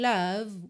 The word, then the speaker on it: love: não é Love porque esse e final não é pronunciado tá Pintadinho de Cinza